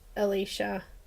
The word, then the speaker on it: Alicia: So Alicia's name is spelt Alicia, but it is pronounced Alicia.